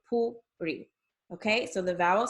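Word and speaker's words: פורים: E, as in like Purim, okay? So it's not Purim or Purim. The U is pronounced as U and the I is pronounced as E, so Purim.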